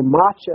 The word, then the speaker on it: Matsya: And so Macha is the way the Nepalese say the name Matsya, M-A-T-S-Y-A, as is spelled in the Vaishnava version of the Lord's name.